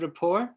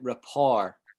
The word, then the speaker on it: rapport: Do you know that word rapport, folks? No. Okay. Right, I've just written it on the thing, right? So it looks like report. I think this might be a French word.